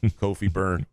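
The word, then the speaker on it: Kofi Cockburn: The cock is silent. It's just burn. Kofi burn.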